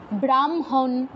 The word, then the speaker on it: ব্রাহ্মণ: পরে হ টা উচ্চারণ হয় যেমন বনহি তারপর ব্রাহ্মণ হয় ম আগে উচ্চারণ হচ্ছে ব্রাহ্মণ বনহি হয় ন ন আগে